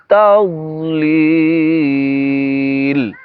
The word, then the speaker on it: تضليل: ألم تر كيف فعل ربك بأصحاب الفيل ألم يجعل كيدهم في تضليل ألم يجعل كيدهم ফি তাদলিল। ফি তাদ, তাদ এখানে দদ হবে, আপনারা দাল উচ্চারণ করবেন না।